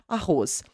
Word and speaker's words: arroz: Say the word arroz for me in Portuguese, okay? Arroz. Now, the Z will sound like a Z or an S. An S, right? Arroz.